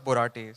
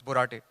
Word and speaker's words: Borate: Um, my surname is pronounced as Borate. So my nickname in school was Borate, like the chemical, but it's Borate. Also, just a quick bit